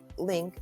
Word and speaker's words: LNK: of concept marketing company which I call link lnk is kind of spelled phonetically link agency which that is